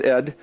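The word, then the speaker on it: עד: Remember, it's translated as until, which, as you noticed, if you put it in the form of moed, this is the word pronounced ed, it means when, because it's a progression in time until something happens.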